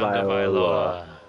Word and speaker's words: Tagovailoa: Tagovailoa. Tagovailoa. Tagovailoa. So yeah, keep saying it. It'll come to you. It's Viola. It's tag a Viola.